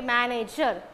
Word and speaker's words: manager: example for er okay manager it's a three syllabic word the word ends with er then the stress falls on the first syllable ma okay my manager okay